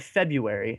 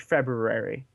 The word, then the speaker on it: February: look this up toy I always called it February and then I found out there's an r in there so now it's like February so I [ __